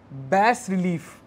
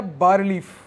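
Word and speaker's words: bas-relief: next line also features बैस रिलीफ बी ए S dash R ई एल आई ई एफ इसको बैस रिलीफ बोलते हैं या ब रिलीफ ऐसे प्रोनाउंस करते हैं इसको डिपिक्टिंग शिवा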